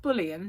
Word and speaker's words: bouillon: really, or bouillon, because it's pronounced bouillon, but there's no ian at the end. It's bouillon, really, but they say bouillon because they don't know how to pronounce it, I suppose.